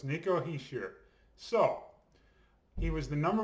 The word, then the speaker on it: Hischier: so nico he's here okay that's how you pronounce it apparently he sheer okay um because these names can be really difficult to pronounce so it's nico he sheer so he was the number one overall pick